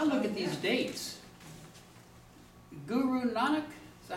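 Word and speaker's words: Nanak: of Christianity I look at these dates Guru nanuk is that how you say he lived the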